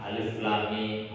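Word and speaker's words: الم: Lamnya ini dibaca panjang dan ketukan, sehingga tidak boleh disamakan membacanya itu Alif Lam Mim, harus dibaca panjang. Di situ ada tanda layar. Jadi dibaca dengan ketukan Alif Lam Mim.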